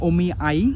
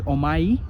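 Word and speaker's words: お見合い: this these couple of words which have the sound e as i like omi i which is uh meeting for arranged marriage is uh pronounced as umai which is not the correct pronunciation or me a prefecture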